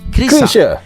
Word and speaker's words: Chrisye: learn more about I think the way you say his name is Kisha which is a legendary rock musician from Indonesia.